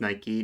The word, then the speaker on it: Nike: Uh, it is Nike. Nike is the Greek goddess of victory.